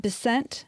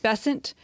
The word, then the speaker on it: Bessent: I hope I say his name right, Scott Bent. Bessent. Yeah, Bessant.